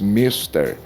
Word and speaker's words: mister: Mister, e não do inglês mister. A palavra é mister.